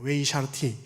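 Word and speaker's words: וְהִשְׁאַרְתִּי: 이걸 어떻게 읽냐면요. 웨히샤르티라고 읽는 단어예요. 웨이샤르티.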